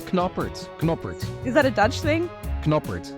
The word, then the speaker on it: Knoppert: sorry yeah yay yay I thought your last name was kner for the longest time with a silent k and then you said kner and I thought you were with me no it's kerer is that a Dutch